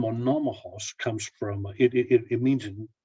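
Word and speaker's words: Monomakh: And Vladimir took his mother's nickname, Monomakos, and he became Vladimir Monomach. That's how you say it in Russian.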